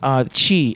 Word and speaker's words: qi: Yeah, it's Chi energy, and that's spelled QI.